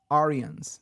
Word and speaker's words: Aryan: themselves The Aran race Arians is what we pronounced them in India Arian the North Indian